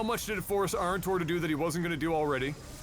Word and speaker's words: Arntor: Is that how you pronounce it? Arntor, yes.